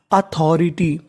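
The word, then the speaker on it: authority: यानी आपको इंग्लिश में कहीं पर टी वाई लिखा मिले तो आपको उच्चारण करना है टी। तो मीनिंग क्या बनी अथॉरिटी।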